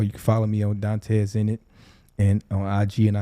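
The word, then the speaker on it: Dontez Enit: spell that d-o-n-t-e-z e-n-i-t so it's almost like Dante's Zenith in a way but it's but it's yeah yeah but I'm in it you know it's a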